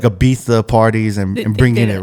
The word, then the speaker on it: Ibiza: I usually locked away yeah I usually say a Visa no it's like a thing like it's like Ibiza it's pronounced Ibiza yeah I mean yeah I remember Afrojack all